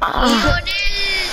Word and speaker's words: Lionel: Lionel, that's how they pronounce it. Everywhere. Spain, Colombia, Argentina, wherever.